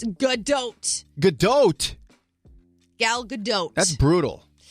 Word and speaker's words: Gadot: There's no way you pronounce the T. Gadot. It's Gadot.